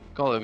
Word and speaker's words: Gottlieb: ones I didn't get were the, how to pronounce it, Gottlieb or? Gottlieb, yeah.